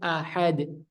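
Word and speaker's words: أحد: makhj huruf dan sifatnya Hamzah itu yang pertama terpotong napasnya dan suaranya jadi jelas a bukan Qul huallahuahad huahad Ya tadi bacanya sudah benar hu a hu Ahad hu Ahad ya suaranya hamzahnya jelas dia syiddah dan juga dia tidak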